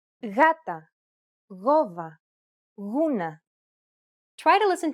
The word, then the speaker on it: γάτα: When it precedes an A, O, or U, however, it's pronounced like a loosely held G sound. Γάτα, γόβα, γούνα.